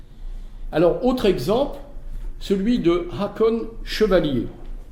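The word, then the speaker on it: Haakon Chevalier: autre exemple celui de Hakon chevalier alors je prononce à la française parce que vous verrez c'est quelqu'un qui rapport avec la France donc ENF 1942 un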